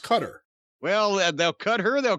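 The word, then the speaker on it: Qatar: are taking bookings in quattar somewhere in the middle east huh it's pronounced cutter well they'll cut her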